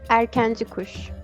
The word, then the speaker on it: Erkenci Kuş: He's a very popular actor who did Erkin Kush. I think you pronounce it like that, right? Ozge? Erkenci kuş.